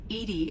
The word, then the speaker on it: EDI: are you named Edie Edie is the phonetic pronunciation of EDI that is an acronym for enhanced defense intelligence are you getting along with Joker mr.